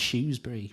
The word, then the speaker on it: Shrewsbury: We don't use the H at all, if I'm honest. You know, our kind of approach is more, you know, it's Shrewsbury, really.